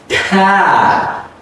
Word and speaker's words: attack: So the first A is reduce. The second one is stretch.